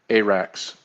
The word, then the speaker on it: Arax: Emphasis, okay, emphasis on the first A, ARAX. Mm. Is that good? ARAX? Okay. Perfect, ARAX.